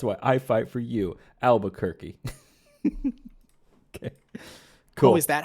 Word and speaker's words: Albuquerque: to pronounce to OverWatch I didn't realize it was pronounced Albuquerque yeah neither die where is